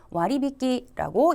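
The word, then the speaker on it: 割引: 읽었어요 자 음독이 아닙니다 한자는 우리말에 할인이라고 읽히지만 일본어 발음은 훈독 했다 해서 와리 비키라고 읽어 주시는 거였고요 그다음에 절약이라고 할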